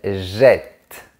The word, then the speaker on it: jette: vous jetez, il, elle jette. Ici, on comprend bien que la double consonne change la prononciation. Ça ouvre le son du E. Je jette.